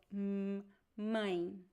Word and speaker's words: mãe: We do pronounce the letter M when it is followed by a vowel. So, mãe.